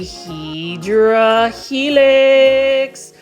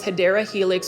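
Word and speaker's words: Hedera helix: video without featuring a HRA helix or the correct way to say it is hadera helix or an English ivy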